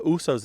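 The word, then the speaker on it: Uce: say uh all the Usos love to eat at that restaurant meaning Samoans love to eat at that restaurant and it's shortened to us to rhyme with moose or goose and not just the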